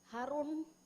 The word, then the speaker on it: Harun: One more thing I have found, Harun. Harun is rhyming with neuron.